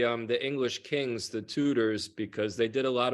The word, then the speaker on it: Tudor: with West now Wes how do you say your last name tutor tutor I've honestly over the past week when I've been talking about you I've been calling you Wes Tudor well when I was